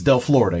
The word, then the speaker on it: Del Florida: with me today is del Florida say hi guys or I said - I said Florida cuz I from Florida and their pronunciation it's del Florida yes no Florida got